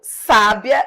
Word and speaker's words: sábia: Do mesmo modo, sábia e sabia.